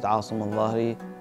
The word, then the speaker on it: Asim Al-Zahari: My name is Asim Al-Zahari, originally pronounced as Asim Al-Zahari.